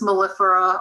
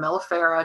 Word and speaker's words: mellifera: it the western honeybee apis mellifera or melafara depending how you want to pronounce it she's the only one